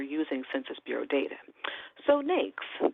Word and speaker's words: NAICS: So "NAICS", it rhymes with "snakes", and it is an acronym for the "North American Industry Classification System".